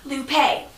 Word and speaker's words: Lupe: Campbell lopine is light blue her name is pronounced Lupe she's always cool and relaxed and she's honest